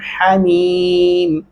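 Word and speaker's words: حميم: हमीम मोटा हा नहीं पढ़ना, हमीम।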